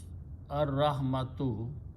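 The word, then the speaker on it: الرحمة: But when you pronounce lam and ra together, lam is killed and ra is pronounced twice.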